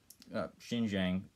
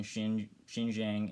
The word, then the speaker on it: Xinjiang: i i feel like xinjiang xinjiang that's apparently the better way to pronounce it shows how not